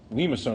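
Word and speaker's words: limaçon: Limacone, and technically I can't draw this accent mark, but there's a little accent mark on the bottom of the C. Okay, bottom of the C. It's pronounced limacone.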